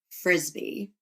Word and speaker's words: Frisby: to name my son Frisbee?" Yes. Okay. And then they go on to say, it's pronounced frisbee like the sport.